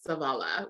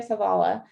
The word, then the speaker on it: Savala: And her maiden name was Savala, which was my middle name.